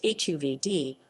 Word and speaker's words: Hovde: Carl Frederick Hovde, pronounced HUV-dee, October 11, 1926, September